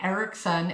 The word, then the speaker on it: Eareckson: So, um, her official name is Johnny Ericson and they spell it E A R E C K S O N.